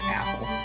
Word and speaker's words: Athol: This one always makes me laugh because it's asshole, but it's Athol. It's the best way to remember it.